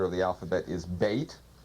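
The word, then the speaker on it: בית: of the alphabet is bait pronounced b or V usually it means a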